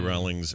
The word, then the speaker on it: Rowling: Rowling's. I heard it was Rowling and not Rowling. We've been saying it wrong. Yeah, it's J.K. Rowling.